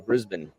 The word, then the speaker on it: Brisbane: to the um the koala um sanctuary in Brisbane and um just oh you said it right